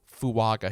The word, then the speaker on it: Fuaga: I'm going to go fuaga here to F I guess it is pronounced fua with an N even though there's no n in there but that's how he